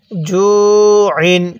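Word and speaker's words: جُوعٍ: এরপরে আমার সাথে পড়ুন জিম ওয়াও পেশ জু, আইন দুই জের আইন, জু আইন। কিভাবে শিখব? জু আইন। হ্যাঁ, আমার সাথে পড়ুন জু আইন। এটাকে হামজা উচ্চারণ করবেন না, আইন উচ্চারণ করবেন।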